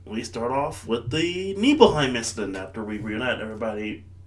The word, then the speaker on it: Nibelheim: The one thing that always confuses me, in the game is spelled Nibelheim, but it's supposed to be pronounced Nibelheim. Nibelheim.